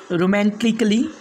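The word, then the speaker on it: romantically: इसके बाद में सेकेंड रूल है, इन चार शब्दों में ए को जो है तो साइलेंट रखना पड़ेगा, मतलब साइलेंट ही पढ़ा ही नहीं जाएगा। जैसे लॉजिकली, म्यूजिकली, रोमांटिकली, उसके बाद में है आर्टिस्टिकली, मतलब ए को नहीं पढ़ना है, लॉजिकली नहीं बल्कि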